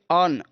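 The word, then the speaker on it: urn: अगर किसी शब्द में यू आर एन लगा है तो आप पे अर्न, अर्न यानी कि रा को साइलेंट करते हुए, यानी रा को बहुत कम बोलेंगे।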